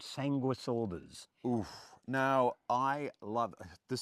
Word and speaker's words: Sanguisorba: But Stephen, before we go and meet Matt to talk more about say it again. Sanguisorba. Sanguisorba. I get the missing syllable out. Sanguisorba.